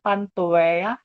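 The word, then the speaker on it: Pantoea: are called pantomeria pantoeya so let me pronounce it again pantoeya and not worthy to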